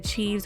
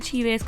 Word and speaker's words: Cheaves: know J wa Jada CH or Jada chz cuz every time I say CH or chz somebody said I'm saying it wrong so I'm just going